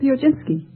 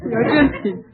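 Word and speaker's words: Piechocinski: how do you pronounce your name? Pioginski. Would you mind spelling it? P-I-E-C-H-O-C-I-N-S-K-I. Now pronounce it again. Pioginski.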